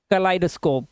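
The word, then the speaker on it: kaleidoscope: देखो के ए है, एल के बाद ई आई है, इसे पढ़ते हैं कलाइडोस्कोप, क्या पढ़ते हैं कलाइडोस्कोप, कलाइडो, यहां पर आई की आवाज, कलाइडोस्कोप।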